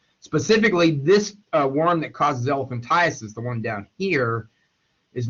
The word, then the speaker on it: elephantiasis: the uh condition well it's mispronounced quite a bit as elephantitis it's not elephantitis it's elephantiasis and elephantiasis is a